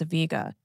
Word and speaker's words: Vega: That's Vega, which can also be pronounced as Vega.